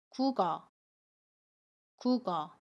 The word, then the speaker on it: 국어: 자리로 가서 발음 해요 연임 이라고 합니다 그래서 국어 국어 라고 발음 해요 두번째로 발음 볼게요 발음은 다른 이라고